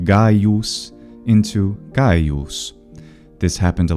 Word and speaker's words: Gaius: of people in Italy hypercorrect the Latin name Gaius into Gaius.